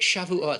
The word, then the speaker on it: Shavuot: He comes up to me, even the way he pronounces it, what's that holiday you have, suck it? Sukkot, Russell. It's not how you say it. It's like that other one, shove it, Shavuot.